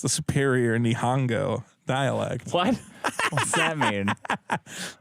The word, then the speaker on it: Nihon: they've changed it to Nihon it's always been Nihon Mexico nihan is the Japanese name for Japan